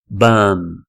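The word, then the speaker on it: bomb: som de a e no final o b não tem som então é então é bam bam Ok eh mais uma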